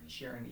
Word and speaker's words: Sheeran: Sheeran, yeah, which is awesome.